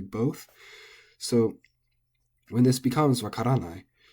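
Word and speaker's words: わからない: So when this becomes wakaranai, our instinct as English speakers is to put the accent on the nai, because that's the long syllable. So we want to say wakaranai, but that's not correct.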